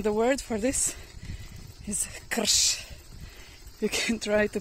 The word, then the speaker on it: krš: In Serbian, the word for this is krš. You can try to pronounce that.